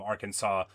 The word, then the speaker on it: Arkansas: Arkansas, the S is silent, but not the first S.